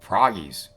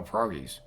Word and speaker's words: pierogies: Like, proggies. I'm like, no, pierogies. Like, wait, pierogies.